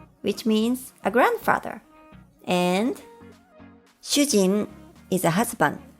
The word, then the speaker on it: しゅうじん: And shujin is a husband, but with an extra vowel, u, it becomes shujin, the Japanese word for a prisoner.